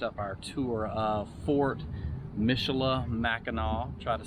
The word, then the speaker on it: Michilimackinac: how do you say the name properly so michela mackinac fort michelle mceloth mackinac was very cool to